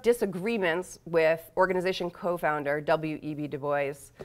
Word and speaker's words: Du Bois: Du Bois, who's not like the French pronunciation Du Bois, nor is he like the Wyoming pronunciation Du Bois. So you have to kind of meet somewhere in between.